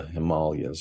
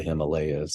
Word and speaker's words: Himalayas: the different territories around the Himalayas, or the Himalayas, as some people pronounce them, of these beings.